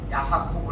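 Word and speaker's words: יעקב: 보면은 이거 읽어 보면은 여기서 원어를 보니까 야 아코브 야코브 합니다 우리는 보통 한국말로 야곱 야곱 하는데 뭐 영어로는 제이콥 제이콥 이렇게 말하기도 하지만은 야 이렇게 그들은 발음합니다 예 야코는 발꿈치를 잡은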